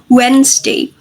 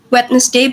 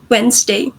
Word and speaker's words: Wednesday: occurred is delation and the sound missing was the D in wet. We do not pronounce it as in some in many dialects we do not pronounce it at as wetness day.